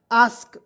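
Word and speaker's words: ask: के इसे पढ़ेंगे दोस्तो ए का उच्चारण आ के रूप में करेंगे ए से आधा स के से लिखेंगे क क्या हो जाएगा आस्क अस्क नहीं पढ़िए आस्क आस्क मीस होता दोस्तों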